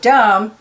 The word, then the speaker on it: dumb: with a silent B and there's the word dumb and it also has a silent B c is for tsar